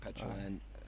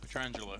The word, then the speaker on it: Petrangelo: True Teller or Jason Kuhn and Nick Petrolan, I always get his name wrong. Nick Petrangelo.